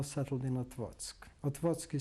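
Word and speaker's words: Otwock: and we now settled in at what's what what's key spelled ot wo CK but the C's pronounced always as at eg in Polish what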